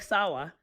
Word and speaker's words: Sawa: Well, and with Scott, like one of my best friends' names is Sawa, like Frank Sawa. It's pronounced with a W, spelled exactly the same as Sava.